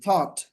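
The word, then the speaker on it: thought: টি এইচ ও ইউ জি এইচ টি, থট, থট, think থেকে থট ভেবেছিল।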